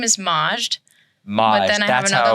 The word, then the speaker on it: Majd: people overthink it because there's no Majd. vowel in between. Do I just ignore the J? Or do I ignore the D? You ignore neither.